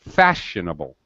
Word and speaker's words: fashionable: example fashionable all right the stressed syllable fast all right you hear it I say it louder I say it with a higher pitch okay but listen to the other syllables fashionable they're very fast and they're just uh just